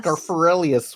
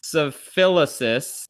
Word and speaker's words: Schaffrillas: Scarfarelius. What is it that Yeah. you do? For those who It's don't well- know. First of all, it's pronounced Schaffrilas, obviously.